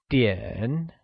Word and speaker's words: 点: The measure word for time is 点, and it is pronounced using a falling rising tone, like 点.